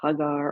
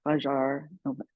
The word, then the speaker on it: Hagar: mother of Isaac and Hagar or haar depending on how you pronounce it the mother of Ishmael